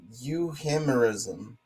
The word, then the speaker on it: euhemerism: No, it's euhemerism. That's got to be the way to pronounce it.